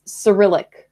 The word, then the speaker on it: Cyrillic: the correct word is Cyrillic in English like the C is soft like you would say what are they oh my goodness st.